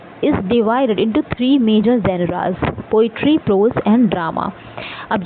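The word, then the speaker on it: genre: Next जो आपका term है लिटरी टर्म है वो है आपका जेनरा। जोनरा जो भी आप प्रोनाउंस करें वैसे जेनरा ही बोलते हैं।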